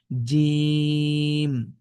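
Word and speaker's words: جيم: এটির নাম হল জিম একটু শক্ত করে জিহবার মাঝখান থেকে বলতে হবে জিম জিম জিম ওকে এবার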